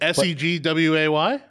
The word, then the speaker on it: segue: no you would think seg w-a-y nope the way that we are using it Segway is spelled s-e-g-u-e it's French dude look at cheese Scrabble